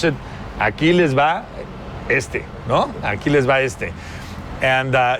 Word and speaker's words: Aquiles va este: So when you pronounce it, Aquiles va este, no?